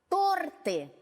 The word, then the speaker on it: торты: Пользоваться знаком ударения мы уже с вами умеем. Давайте тренироваться. Торт, а если их несколько, торты.